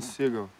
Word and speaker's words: Seagal: - Ah, come on… - Silene Se-a-gal, a beautiful… - No, it is Seagal. It says Se-a-gal. Because it is Se-a-gal, but you pronounce it Seagal.